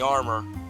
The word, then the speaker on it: ARMR: armor and so you can just call me armor then that sounded like what it should be pronounced that for us because I thought it